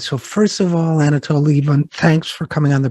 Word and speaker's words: Lieven: It's Lieven, but don't worry, I'm used to every possible pronunciation.